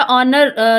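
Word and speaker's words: honour: था कि जब हमारा ऑनर लिखते हैं ठीक है ऑनर लिखते हैं तो हम एच को साइलेंट करके ओ से ओ से स्टार्ट करते हैं हम साउंड करना इसी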